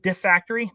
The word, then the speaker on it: Defactory: How do you pronounce is it defactory? Defactory. Nick, you nailed it.